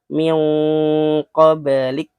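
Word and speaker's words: مِن قَبلِك: Berarti ini juga min qoblik ya. Qoblik ada qalqalah. Karena ada kutipnya di sini berarti menandakan ini huruf qalqalah.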